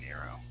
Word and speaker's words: narrow: Okay, so what you're doing, you're rolling your R. You're saying narrow. Okay, give me an R sound. Nair. Narrow. Okay, no? So yeah, what you're doing right now, your tongue is hitting the top of your mouth. It's vibrating. Nair. Okay, you want to pull your tongue down.